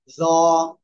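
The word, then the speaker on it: ظ: জ। জিহ্বার আগা উপরের দুই দাঁতের আগার সাথে লাগিয়ে মোট আওয়াজে উচ্চারণ করতে হবে। জ, জ, এক লিপ টান হবে।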